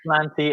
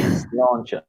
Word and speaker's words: sláinte: Not slanty, Aidan, not slanty. I know it looks like that, but we say sláinte.